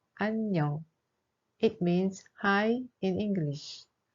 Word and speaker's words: 안녕: In the syllable an, iung has no sound, but in the case of 녕, iung has a sound ung. So the pronunciation of this word is 안녕.